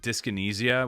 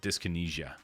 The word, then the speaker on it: dyskinesia: up how to say dyskinesia without knowing the word? Instinctively, I'd almost assume that the anesia in dyskinesia would be pronounced like the word amnesia, where the SI sound is almost like a J.